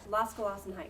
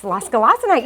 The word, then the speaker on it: Losgelassenheit: Losgelassenheit. Yes, losgelassenheit. You sounded just like Google when I did the pronunciation last night.